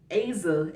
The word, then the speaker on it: Azah: of people was like aza aza as a it's awesome oh the h is silent i mean to me